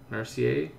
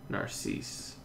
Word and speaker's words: Narcisse: You pronounce it Narcier? Narcier? Narcisse. Narcisse.